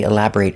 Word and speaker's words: elaborate: If I use this word as an adjective, the pronunciation changes. If it's not a verb, it's elaborate. Making a short sound.